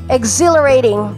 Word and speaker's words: exhilarating: or thrilling we say exhilarating exhilarating i'll stress point as a second syllable exhilarating okay exhilarating we